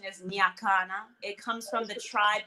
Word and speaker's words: Nyakana: The pronunciation is Nyakana.